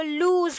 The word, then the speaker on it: lose: HOSE को होस पढ़ते हैं, DOSE को डोज, और उसी तरह और उसके बिल्कुल अपोजिट LOSE को लूज पढ़ते हैं।